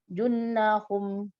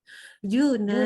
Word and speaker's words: junah: juna jun jun junnahum Nggak ada tasydid di junnah nunnya. Yuk. junnah Juna. Ini junnah bacanya Juna.